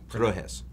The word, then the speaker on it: Trojes: T-R-O-J-E-S. Trojes. Pronounce it.